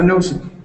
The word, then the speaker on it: nosed: have to, so the ed, you don't have to say it like ed. All right. I know it seems like you have to make it a separate part of the word, but like mouthed. Okay, nosed, eared. Okay, like mouthed is said with an ed sound at the end, but nosed is not. Okay, eared is not.